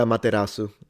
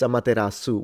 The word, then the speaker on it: Amaterasu: Amatasu. It's with an S though. I don't think it I I you spell it Amateru. It's Amaterasu with an S.